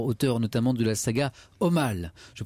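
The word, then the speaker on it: Omale: science-fiction laurent genefort auteur notamment de la saga au mal je prononce bien c'est bien au mal et ça bonsoir bonsoir le rang merci d'être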